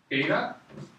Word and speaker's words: theta: Theta. It's pronounced theta.